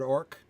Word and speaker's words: orc: wants it to make wants to make sure everyone's pronouncing that with a hard c and of course the stakes are a lot less in the word orc than in the names